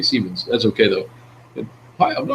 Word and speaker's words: Siemens: He pronounces it Simons. It's actually Siemens.